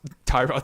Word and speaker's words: Tyrod: know right Tyrod Taylor I'm not actually GNA call him trod Taylor you actually pronounced Tyrod Taylor yeah finded that out